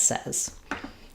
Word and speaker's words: says: The spelling looks like says, but it changes to the vowel, says. If you said says, don't worry, that's a common error pattern, and some British accents use more of a says than a says, but in American English, we say this word as says.